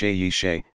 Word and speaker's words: Seyi Shay: 1985 comma five six professionally known as saishei pronounced yishay is a nigerian singer